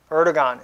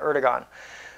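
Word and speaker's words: Erdoğan: help of ER erdogan erdon is how he pronounces his name I guess it's more correct way to say it erigon so as he said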